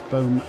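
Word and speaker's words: Boem: ran boom car bum I'm saying boom it's spelled b or e m I'm trying to say it kind of a German Swiss German Way Bo German speaker behind me is saying boom boom right it's Boom by Kastle racing um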